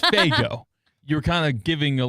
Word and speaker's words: Faygo: No, not Fuego. It's Faygo.